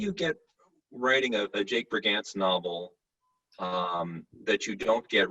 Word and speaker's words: Brigance: The real inspiration was Jake Brigance, that you did pronounce it correctly.